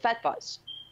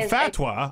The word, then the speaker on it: fatwa: Fatwa or fatwa, they pronounce it both ways. Oh, I know fatwa. I know that. So, okay, but continue. Well, the correct Arabic pronunciation of it is fatwa. Okay. That's how they say it.